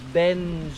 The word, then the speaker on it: Beinn: as I always do, is Ben, which in Gaelic, of course, means the heart-shaped hill. And no, that wasn't me having a stroke on camera. That is the genuine Gaelic pronunciation.